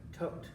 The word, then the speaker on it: Thoth: The god of wisdom was Tot. I always pronounce Thoth. Almost everybody on YouTube calls it Tot, though.